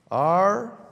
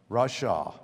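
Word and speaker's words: רשע: That was the morally wrong person, and how they show the pronunciation of it is R-A-W-S-H-A-W. Rasha.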